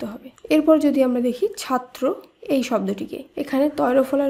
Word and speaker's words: ছাত্র: এরপর যদি আমরা দেখি ছাত্র, এই শব্দটিকে এখানে তয় ফলা রয়েছে শব্দের শেষে, তাই এই নিয়ম অনুসারে এই ব্যঞ্জনবর্ণটিকেও দ্বিত্ব হিসাবে উচ্চারণ করতে হবে। তাই শব্দটির উচ্চারণ হবে ছাত্র।